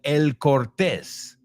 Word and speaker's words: El Cortez: Now, this is a hotel that is called El Cortez. You say Cortez, because una Z al final. Well, we would pronounce it El Cortez.